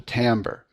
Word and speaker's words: timbre: voice and the which is also called the Timbre spelled with the i t i m b r